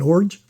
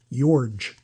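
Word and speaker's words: Iorg: Dane Orge. Most mispronounced name in TTM land right there. Yorge.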